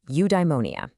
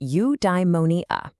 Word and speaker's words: eudaimonia: Okay, I've got a new word for you, eudaimonia. It's pronounced you-die-mo-nee-a.